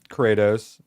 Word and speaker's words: Kratos: Kratos. Oh, he pronounces these.